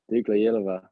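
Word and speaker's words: Dukla Jihlava: Dukla Yehlava. Yeah, Dukla Yehlava. Yeah. So the J is silent, like in jogging. Yeah, they yeah, so they say their J's are like a year there.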